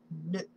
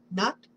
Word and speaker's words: Nut: Goddess Nut. Nut? Nut. I don't know how to pronounce it. N-U-T, Nut. Not? Can be not.